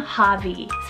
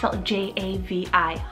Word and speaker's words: Javi: familiar i love this one it's the name javi j-a-v-i javi and this one's actually from the name